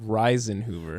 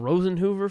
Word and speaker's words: Risenhoover: Well, how do you pronounce it? Reisenhoover. Reisenhoover. How's it spelled? Risenhoover. You were calling him Rosenhoover from that?